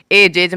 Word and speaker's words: edge: डी कब silent होगा, जी से पूर्व यदि डी हो तो डी साइलेंट रहता है। यानी कि जी है पहले, तो मान लो कि ये जी है, ये जी है, और जी के ठीक पहले डी है, तो ये डी का कोई भी उच्चारण नहीं निकलेगा।